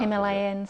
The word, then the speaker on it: Himalaya: I've just come back, so people go Himalayas. I was like, no, it's Himalaya actually. Is it really? Yeah, it's what the Indians, how they pronounce it.